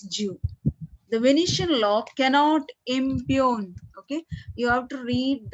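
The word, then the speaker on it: impugn: the Venetian law cannot impune okay you have to read that word as i m p u g n Okay g is silent and you have to pronounce it as impune okay impune so imune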